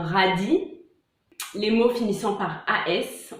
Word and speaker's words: radis: Les mots finissant par IS, on ne prononce pas le S, comme une souris ou un radis.